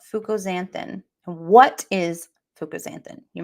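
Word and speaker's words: fucoxanthin: we are going to okay it's fuk it's Fuko zanthin but it's spelled you'll see I'm going to share my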